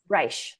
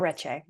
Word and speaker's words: Reche Canyon: Reich, thank you. Yep. It's not Reche.